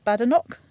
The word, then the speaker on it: Badenoch: So Tory leader, Penny Badenoch. Yeah. Is that how you say it? Yeah.